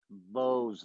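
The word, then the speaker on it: Bohze: the charred he keeps getting sent out by bows the cruel who to come and destroy our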